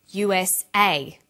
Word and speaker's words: USA: is pronounced separately but the last letter is pronounced more strongly because it carries the primary stress so we say USA ASAP ABC and TV